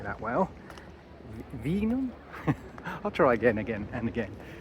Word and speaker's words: Wijnegem: Wijnegem. Wijnegem. Wijnegem. Yeah, that's Wijnegem.